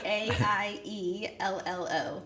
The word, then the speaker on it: Aiello: It's spelled Aiello. So just think like Jello, but AI at the front.